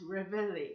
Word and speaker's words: Reveille: That's how it says pronounced Reveille.